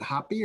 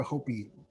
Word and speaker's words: Hopi: pronounce it right but is it hoppy or hopi hopi hopi yeah so she uh she